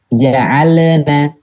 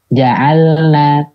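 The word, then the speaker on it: جعلنا: Memperjelas huruf lam dengan melebihkan suaranya. Terpantul. Jadi terdengar seperti terpantul. Ja'alna. Nah itu sering tuh. Kalau nggak sadar biasanya gitu tuh. Ja'alna. Karena dia perpindahan antara lam ke nunnya itu ada suara. Jadinya terdengar mantul. Ja'alna. Padahal kan harusnya enggak. Jadi ketika perpindahan suaranya caranya jangan ada suara ketika perpindahannya dari lam ke nunnya. Ja'al pindah ke nun, nah ja'alna.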